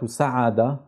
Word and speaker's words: سعد: معي احسنتم يا ابطال الكلمتان هما صعد وسعد والاختلاف بينهما هو حرف الصاد وحرف السين فكلمه صعد تبدا بحرف الصاد اما كلمه سعد تبدا بحرف السين هذا كل شيء ارجو